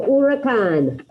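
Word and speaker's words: huracán: first one el-ura khan remember the h is silent so you have repeat on el urakan okay i heard two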